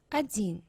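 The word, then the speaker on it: один: bit about pronunciation no we pronounce like we read it adin stress is here ajin and this letter we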